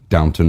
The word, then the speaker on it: downtown: call it here locals Downton Miami I don't know why they call it dancing hose to downtown well it's obviously downtown but it's Downton that's how they pronounce it here you wouldn't know you've